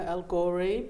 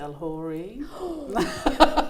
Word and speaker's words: Elghorri: got into comedy so my name is algori but some people pronounce it el hory do you correct them